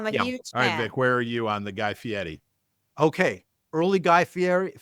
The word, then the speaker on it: Fieri: Early Guy Fieri. You have to pronounce the R like it's a D.